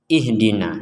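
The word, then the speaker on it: اهدنا: Kalau di sini ihdina. Nah, kenapa di di sini dibaca fathah dan di sini dibaca ee harakat kasrah?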